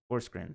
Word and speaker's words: Forsgren: Pronounce her last name. I always get it wrong. Forsgren.